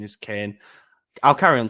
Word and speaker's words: Kean: him it's technically pronounced no it is actually pronounced Kane no it's Moy Kane that is actually how